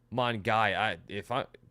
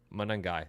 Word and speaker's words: Monangai: Same with this guy, Kyle Mongai. Am I mispronouncing this guy? Monangai? Monangai.